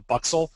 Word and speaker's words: Buxl: is the FGBX, and I'll probably say it wrong, but I'm going to say it's called the Buxel. I don't know how they say it in Europe. It's BUXL. That's how I'm saying it.